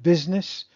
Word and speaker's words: business: And business, the use sounds like an I, but it's spelt with a U.